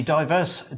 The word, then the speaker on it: Divers: I see you've come around to my way of pronouncing it ADRIAN: Which is what? PHIL: Diverse. A lot of people say Divers but they're all idiots. They're reading it like it's written...